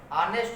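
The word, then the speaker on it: honest: उसका सही जो रूप है वह क्या है, ऑनेस्ट होता है। तो ऑनेस्ट जो है वह उसमें आ का उच्चारण होता है, यानी ए का उच्चारण होता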